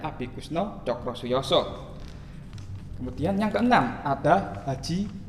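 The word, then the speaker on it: Abikoesno Tjokrosoejoso: Abi Kusno Cokrosuyoso, bacanya Abi Kusno Cokrosuyoso.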